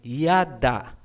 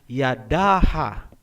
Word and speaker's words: yada: Gaya halimbawa ng salitang yada, ang ibig sabihin niyan ay praise o pagpupuri. Hindi po binabasa na yadaha.